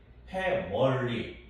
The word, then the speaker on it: family: 그런 거 좀 잘 챙겨두시고 또 family, 패밀리가 아니에요. family, 패멀리 이게 좀 더 가깝죠, 그렇죠?